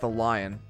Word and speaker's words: Dalian: Ezra says it's pronounced the lion.